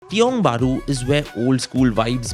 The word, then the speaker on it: Tiong Bahru: That's how it's said. Tiong Bahru, yes.